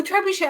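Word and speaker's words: trebuchet: A trebuche. Oh, trebushe. Oh, is it French? Yes, that's it.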